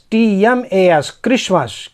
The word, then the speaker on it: Christmas: CHRISTMAS, क्रिसमस।